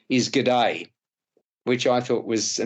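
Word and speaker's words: Gede: for a local seaweed fisherman whose name is G'day, which I thought was a nice touch, but G'day is spelt G-E-D-E, so there you go, played by Maxime Boutier.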